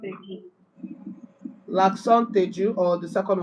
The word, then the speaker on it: aigu: Okay, so let's start from accent aigu.